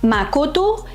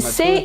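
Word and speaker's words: 誠: It's pronounced makoto and sei in Japanese and cheng in standard Mandarin Chinese.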